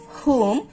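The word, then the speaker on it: whom: যখন দেখবো যে ডব্লিউ এইচ এর পরে ওস লেটারটি আছে ও লেটারটি আছে সো সেই ক্ষেত্রে আমরা ডব্লিউ টাকে সাইলেন্ট করে পড়বো যেমন হু হুম হুজ হোল হু এভার এই ধরনের ওয়ার্ডগুলোতে আমরা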